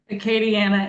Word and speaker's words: Acadiana: Acadiana Animal Aid.